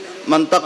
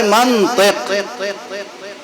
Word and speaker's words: منطق: ہمارے علاقے میں لوگ منطق بولتے ہیں، ہم بھی منطق بولتے ہیں. اب ہم کیسے سمجھائیں آپ کو کہ منطق غلط لفظ ہے؟ اصل لفظ ہے منطق. اب کسی عرب سے پوچھئے کہ منطق کیوں ہے، میم پہ زبر کیوں ہے اور تو کے نیچے زیر کیوں ہے، وہ ایک ایک سوال کا جواب دے گا.